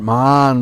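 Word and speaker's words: मान: So Man means the heart. Man with a long A means anger.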